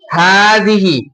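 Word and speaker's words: هذه: हाजिही, क्या बोलेंगे इसको? हाजिही। और इसको क्या बोलेंगे? हातानी, क्या होगा इसका प्रोनाउंसिएशन?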